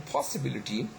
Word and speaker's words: possibility: Okay, in possibility, what we have is that the first syllable is stress, but that's secondary stress. The 3rd syllable, the 2nd syllable is not stress. The 3rd syllable is actually primary stress. Okay, tonic stress, strong stress, and then we have got the 2nd, 4th, and 5th syllables that they are not stressed; they remain unstressed.